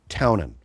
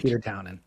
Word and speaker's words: Townend: He went Townend on the first one, and then Townend, I think he emphasized the D.